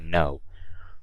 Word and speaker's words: know: is how I pronounce no you guys I don't pronounce the K I don't say - no I say no okay so I think